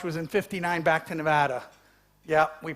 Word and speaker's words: Nevada: the silver Rush was in 59 back to Nevada yeah we pronounce it Nevada and and uh almost 200 million ounces of